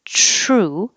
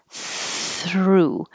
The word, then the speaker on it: through: fit on the sign if yours sounds like true that means your tongue is behind the teeth and here true instead of between the teeth through so it does take